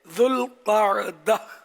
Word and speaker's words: ذوالقعدہ: بھی کہا جاتا ہے۔ ذوالقعدہ 2 لفظوں سے مل کر بنا ہے، ایک ذو اور دوسرا القاعدہ۔ اس کا درست تلفظ یہ ہے ذوالقعدہ۔ ذوالقعدہ کی حرمت کی